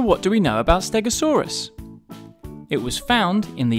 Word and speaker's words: Stegosaurus: to learn all about Stegosaurus how do you say that again stay go saw Russ can you say it with me stay go saw Russ so what do we know about Stegosaurus it was found in